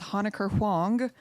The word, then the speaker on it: Honecker Huang: Hi, in case you want to try to pronounce my last name, it's Honecker Huang.